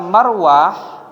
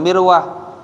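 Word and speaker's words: مروة: Cara bacanya kata marwah itu bifathil mim. Mimnya dibaca fathah. Maka ma bukan mi, bukan mirwah ya. Tapi apa? Marwah.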